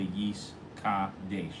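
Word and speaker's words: וְיִתְקַדַּשׁ: very focused, and make sure that you really pronounce Yis Gadel the Yis Kadesh.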